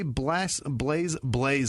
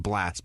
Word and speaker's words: Blaze: Laura Willis, Amy D'Angelo, Flavia Perez, Andrew Pearson, Scarlett Charlton, Lindsay Ray, Blaze Cruz. I know how to pronounce that. You almost got me with Blast, but it's definitely Blaze.